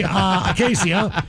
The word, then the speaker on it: Acacia: Happy 20th birthday, Acacia, pronounced like acacia tree.